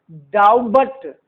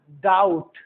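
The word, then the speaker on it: doubt: डाउबट, डाउबट नहीं, डाउट।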